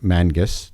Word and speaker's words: Mangis: So, in case you're wondering who I'm talking to, if you didn't see the intro, um, this is Kerry Mang Mangus. Did I pronounce that right?